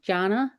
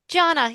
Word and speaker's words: Gianna: G, did I do I say your name wrong? Janna. Janna, you got it.